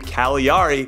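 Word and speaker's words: Cagliari: it's the team that has a silent G in its name Kali re which makes me wonder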